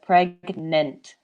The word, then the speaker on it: pregnant: the pronunciation pregnant so in english GN the two sounds are separate pregnant yeah so write it